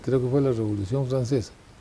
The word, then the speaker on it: Francessa: Bueno, ese apellido Francesa, que en buen italiano se pronuncia Francesa, es un caso curioso.